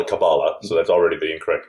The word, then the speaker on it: Kabbalah: in pronunciation is um hebrew is what has stress almost called the ultimate syllable so we say kabbalah okay and yiddish is penultimate kabbalah okay so therefore there